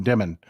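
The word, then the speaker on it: Dimon: this happened this happened everybody calls him Diamond his name is spelled D M O N demon Jamie demon his name isn't Diamond I don't know why people call him diamond yeah Trump came out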